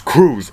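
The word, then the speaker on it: Crews: like oh Apollo Creed you call me Apollo Creed no it's Cruz spell it right and that's how this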